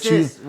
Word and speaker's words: cis: So the only time that cis? Cis is like when you are it's is when that how you say it, cis? Cis, yeah. Okay. How you been saying it? Kiss.